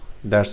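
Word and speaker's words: ثاء: So tha is your tip of the tongue, and somewhat touching the corner, the bottom corner of your front teeth, upper teeth.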